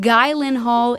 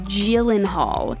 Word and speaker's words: Gyllenhaal: sweden and in ikea it is originally swedish but the phonetics are pretty simple it's not guy lynn hall it's gyllenhaal sounds pretty easy right